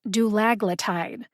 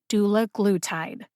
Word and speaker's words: dulaglutide: dr elena alexander say she thought it was pronounced dullagletide as pharmacists do we know what she's talking about if she pronounces it that way yes i believe so anyway she said that the pronunciation given to her by eli lilly was doula glutide how do we